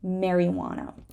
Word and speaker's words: marijuana: to pronounce this word this is a word with a silent J marijuana uh the silent k